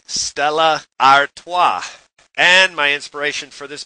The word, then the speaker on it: Stella Artois: in Manhattan right now, you would say, I'll have a Stella. But with the help of my Belgian passengers, I learned the Belgians say Stella Artois.